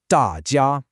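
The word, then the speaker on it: 大家: The tones are fourth tone then first tone. Da ja.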